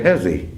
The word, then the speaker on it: Hezzy: I just say Hezzy. Hezzy. Yeah, I always say Hezzy, but unless it's book work, and You said Hezzy, they said Jesus.